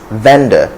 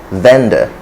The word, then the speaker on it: vendor: the correct pronunciation is vendor with a schwa vendor and fender it ends with the schwa just the schwa right okay and then